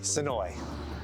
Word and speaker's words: Senoia: you say this anyway I definitely say it the right way sooi I catch myself adding a syllable I sometimes say soya and you'll sometimes catch people saying it SOA how about we go